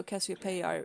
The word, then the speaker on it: Cassiopeia: That's how Cassiopeia is pronounced.